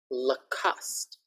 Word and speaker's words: Lacoste: Okay, another famous brand, Lacoste. Lacoste. Not Lacoste, not Lacoste, just Lacoste.